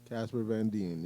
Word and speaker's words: Casper Van Dien: Casper Van Dien.